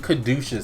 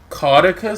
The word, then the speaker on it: caduceus: loud this week and most people have been saying kedusha staff so I'm gonna go with that cuz I I don't know in my head I never pronounced it that way I always thought it was like Kartika stuff but caduceus it kind